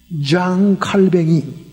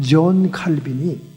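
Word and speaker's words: Calvin: 16세기에 스위스 제네바에서 프랑스 사람인 장 칼뱅이, 영어식 발음은 존 칼빈이 제네바를 성시화하면서 장로교회 제도를 확립하죠.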